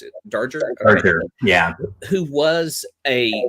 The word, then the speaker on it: Darger: Is it Darger, or how did you pronounce it? Darger.